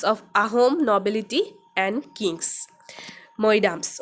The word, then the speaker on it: Moidams: Moidams. Okay, it is pronounced as Moidams.